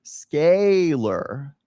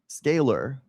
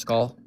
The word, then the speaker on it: scalar: When there's a vowel followed by a letter followed by another vowel, the second vowel makes the first vowel say its name. That's why it's pronounced sk a scaler. Scalar.